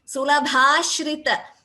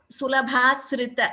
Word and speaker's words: सुलभाश्रित: Sulabhashrita. It is not Sulabhasrita. It is not sa here.